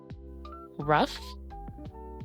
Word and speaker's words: rough: Rough, tough, and cough. In these words, the gh sounds like an F sound.